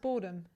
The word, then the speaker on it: Boardham: It's pronounced boredom. Boredom. Like Yeah. Like Yeah. the places in England.